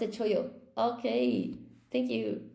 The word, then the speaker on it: chollo: Pronounce the double L, not a single choyo. It's un choyo. Cholo. No, it's a choyo.